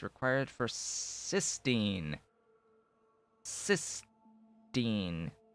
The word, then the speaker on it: cysteine: it's required for cysteine cysteine t-i-n-teen cysteine that's how that's how i'll pronounce it anyway uh you need it